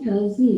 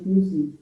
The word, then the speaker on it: fuzzy: bacanya Fazi ya, bukan Fuzi.